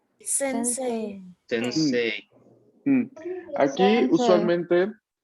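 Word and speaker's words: 先生: usualmente si no sabes la regla fonética, ¿no? O no le prestas atención, uno lo lee sensei, ¿no? Dándole bastante énfasis a la pronunciación de la I al final. Pero no, atención. Esto aquí cuando lo veamos así, EI, la gran mayoría de veces vamos a pronunciarlo una E larga. La I está ahí solo para indicarme de que la E va a ser larga.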